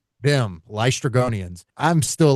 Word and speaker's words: Laestrygonians: Oh, the Laestrygonians? Them. Laestrygonians.